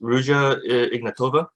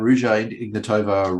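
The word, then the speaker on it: Ruja Ignatova: You've got, so I'm assuming this is pronounced Rouge Ignatova? Yes. I've only found out about Rouge Ignatova recently.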